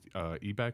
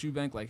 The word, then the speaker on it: Eubank: If you are into the gym influencers as well too, the Trent twins and Alex Ebeck, I said it right? Alex Eubank.